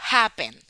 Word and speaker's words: happen: Otro ejemplo, happen. No decimos happen, ¿verdad que no? No decimos happen, decimos happen. Happen, la sílaba tónica es ha, happen. Y la sílaba átona, la que no suena, es pen.